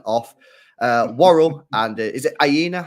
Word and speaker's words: Aina: Worrell and is it Aina? How you say his name? Yeah, I- Aina. Yeah, Aina.